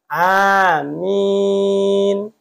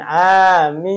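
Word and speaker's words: آمين: itu mad badal dua panjangnya Amin itu panjangnya segitu jangan amin ya nanti takutnya berubah arti pendek semua Amin itu bisa artinya aman Amin a-nya pendek minnya panjang Amin Itu Amanah terpercaya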